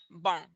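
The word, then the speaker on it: bom: on to the m m at the end of a word as we saw with tudo bang um and bong and also this other word here which is which means some it's soft it's like a soft n it's like a very soft m but it sounds closer to an n it's not a hard and like bond but it's a softer bong yeah and then we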